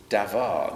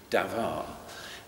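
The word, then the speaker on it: דָּבָר: Now in Hebrew, the word for word is davar. They pronounce a B as V in Hebrew, davar.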